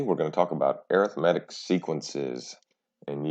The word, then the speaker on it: arithmetic: going to talk about arithmetic sequences and yes that is how you say the word when you are talking about sequences not arithmetic arithmetic first let's talk about